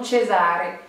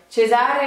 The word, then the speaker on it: Cesare: E un autre exemple le prénom Cesare Cesare voilà ça vous fait également le même la même prononciation donc uniquement avec ces